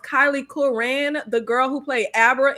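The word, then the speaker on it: Kyliegh Curran: baby name I think her name is pronounced Kylie Kuran the girl who played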